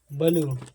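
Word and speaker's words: blue: दिखाया जा रहा है बी एल यूई बलू बलू क्यों पढ़ा जाएगा जब किसी वर्ड में यूई एक साथ आता है तो यूई को बड़ा उ के रूप में प्रोनाउंस किया जाता जब किसी वर्ड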